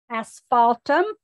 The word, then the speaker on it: asphaltum: eight yes it is just like it sounds asphaltum a s p h